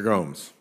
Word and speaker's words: Gomes: Gomes. It's pronounced Gomes, correct? That's okay. Correct. Thank you.